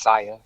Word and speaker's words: Sia: so what about you Sia I keep I don't know if I'm saying your name right like tell me if I'm saying that right because like you're good it's pronounced sire all right so when